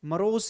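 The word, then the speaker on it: morose: Next word है Mohan remains, Mohan remains मरोस, मरोस इसको pronounce करते हैं दीज डेज।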